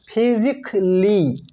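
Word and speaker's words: physically: নট বেসিক্যালি বেসিকলি এই ওয়ার্ডটিকে আমরা বলে থাকি ফিজিক্যালি নট ফিজিক্যালি ফিজিকলি এই ওয়ার্ডটিকে আমরা বলি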